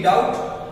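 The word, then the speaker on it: doubt: क्योंकि टी से पहले जब बी आता है तो बी साइलेंट होता है, डाउट।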